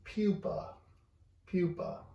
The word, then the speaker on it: pupa: some we called a pupil okay and it's pronounced pupa pupa okay and it's kind of a the common